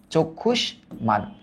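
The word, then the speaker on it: চক্ষুষ্মান: ও এর মত হয় তাই এটার উচ্চারিত রূপ প্রথমেই আমরা লিখবো চোখ চোখ তারপর লিখব আমরা খুশ চক্ষুশ তারপর আমরা লিখব মান চক্ষুশ মান ম এর উচ্চারণটা বহাল ছিল এই জায়গায় জ্ঞাতি জ্ঞতি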